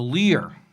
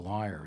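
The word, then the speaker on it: lyre: called On Building the Lear, although I never know how to pronounce that word. L-Y-R-E. It's always kind of like liar, isn't it? Lear, liar.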